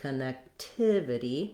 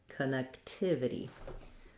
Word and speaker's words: connectivity: on the neck connect here it's going to be connectivity my length and my stress is on the third syllable it has that if